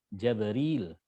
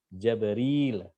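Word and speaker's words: جبريل: Nah, Ibnu Katsir membacanya dengan Jabril. Jabril. Gabriel. Nah, ini kalau Gabriel ini dari sini. Jabril. Ada ya di situ. Jim fathah, ba sukun, ro kasroh, ya sukun dan lam.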